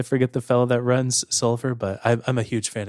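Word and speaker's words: Soulver: Like if you've heard us talk about it, you've never checked it out, you should just go look into Solver. And it's always like, it's spelled weird, SOULVR, I believe is the spelling.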